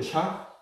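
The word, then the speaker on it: 虾: 또 요 새우가 중국 발음으로 샤거든요. 샤.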